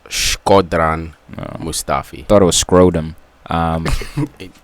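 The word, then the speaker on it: Shkodran Mustafi: wondering um uh how to say it it's schran mustafi thought it was scrotom um going to Arsenal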